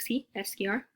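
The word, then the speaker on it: esquiar: la principie on the-- to ski scr kind of sounds like si s cure if you're going up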